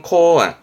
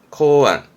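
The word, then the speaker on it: 考案: 발음은 코안, 코안, 고 찰입니다.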